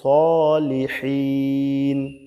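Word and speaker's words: الصالحين: আসসালামু আলাইনা ওয়ালা ইবাদিল্লাহি সহ বাংলা উচ্চারণটা দেখুন আসসালামু আলাইনা ওয়ালা ইবাদিল্লাহিহ ওয়ালা ইবাদিল্লাহি সহিন এখানে আবার সালিহিন বইলেন না তাহলে কিন্তু সিন হয়ে যাবে এখানে কিন্তু সলিহিন বলতে হবে এই যে এখানে আমাদের উপর এবং আল্লাহ আল্লাহর নেক বান্দাদের উপর শান্তি বর্ষিত হোক।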